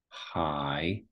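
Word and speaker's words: 海: Hai.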